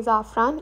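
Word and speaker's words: Safran: और इसका नाम है जाफरान साफरान लिखा हुआ है पर जर्मन में इसको प्रोनाउंस करेंगे जाफरान इंडियन रेस्टोरेंट है यहां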